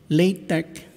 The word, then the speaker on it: LaTeX: is one advantage of this software so again latex is the correct pronunciation and this is used in preparing a